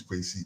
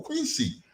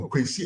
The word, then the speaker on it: Kwesi: And I said, "My name is Quincy." "Oh, Quincy." I said, "No, Quincy."